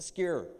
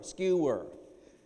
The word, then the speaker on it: skewer: i'm like what's the secure it's a skewer skewer something in her speech ability there is a weakness in being able to put together that word to make it a two-syllable term skewer and what do i